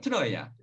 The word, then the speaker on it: Troia: diye okunuyor mu o tır oıa ya diyoki Troya duruyor yani normal okunuşu bu Dolayısıyla Biz de öyle alıştır aldık